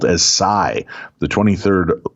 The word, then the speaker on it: psi: Those episodes are denoted by the Greek symbol, looks like a trident, which is pronounced and spelt as psi, the 23rd letter of the Greek alphabet, having the numerical value of 700.